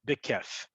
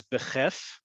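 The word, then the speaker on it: בכיף: those things is bekef you'll also hear people pronounce it as beheff it's a little showafie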